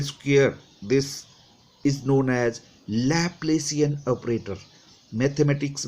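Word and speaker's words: Laplacian: Where, अब ये क्या था, this del square whole del square, this is known as लैप्लेसियन operator.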